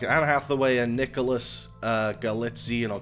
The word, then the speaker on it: Galitzine: Like Anne Hathaway and Nicholas Galitzine or Galitzine. I'm terrible at pronouncing names. Galitzine sounds right.